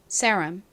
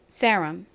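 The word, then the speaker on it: serum: 유가 오고요 그다음에 미음 받침 m 요렇게 씁니다 발음해 볼게요 seram seram 좋습니다 같이 적어 볼게요 세 s r r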